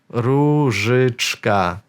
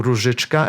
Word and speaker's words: Różyczka: So O with this line above, it's U. So in Polish, we've got two letters for the same sound, U. And then Ż. Again, not really, this sound does not exist in English, maybe apart from the word like vision. If you pronounce it in a hard way, vision, then you have a Ż.